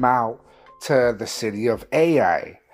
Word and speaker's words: Ai: to the city of Ai. I believe that's how you pronounce it, Ai.